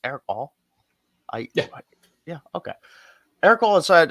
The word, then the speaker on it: Erick All: Is it pronounced Erick All?